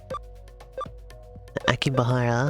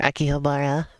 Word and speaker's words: Akihabara: I think it was Aki bahara or Akihabara rather I was want to put those syllables in the opposite order from what they actually are for whatever reason oh